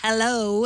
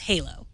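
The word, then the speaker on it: HaLow: h l o w it is not pronounced hello as I thought maybe like hello uh it's Halo and it's essentially a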